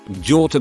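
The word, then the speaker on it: gjort: of do in norwegian george sounds the exact same as deer in norwegian george as the g and h is silent so whenever i say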